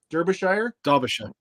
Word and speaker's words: Derbyshire: Am I pronouncing that right? Derbyshire.